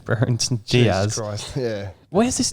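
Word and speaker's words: Brereton Díaz: What, you mean Brereton Davis, as Simon Pitts likes to call him? Brereton Diaz.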